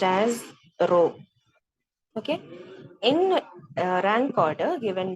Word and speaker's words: rho: p okay fine it's a symbol so it's pronounced as rho okay in rank order given by Charles pierman